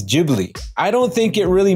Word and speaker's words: Ghibli: It's called a Ghibli wind. But the way Hayao Miyazaki pronounces his studio name, it's Ghibli.